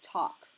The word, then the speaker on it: talk: stole will talk Kyle you can notice in the word talk you don't listen quite to the L doesn't sound okay it's talk the other words you